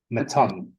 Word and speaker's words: Mitton: So I've corrected everybody my whole life because Mitton for me is Mitten, but the Ah, but the Mittons in England are Mitton. Mittons in French in France are Mitton as well, but they pronounce Mitten and Mitton. So it's Mitton, and Mitton.